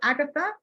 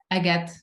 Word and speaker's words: Agathe: Is it Agathe or Agatha? Let me know. Agathe. It's Agathe. It's like the stone.